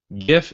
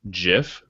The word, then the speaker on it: GIF: The other thing, GIF and GIF, we had a little debate about.